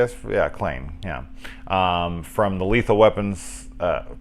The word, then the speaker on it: Clayne: Yeah, Clayne.